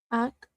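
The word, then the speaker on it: אָח: Ak.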